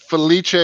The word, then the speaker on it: Felice: Feliche is the Italian pronunciation.